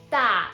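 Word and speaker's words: 大: So just FYI, this one pronounced da in Chinese, it means big.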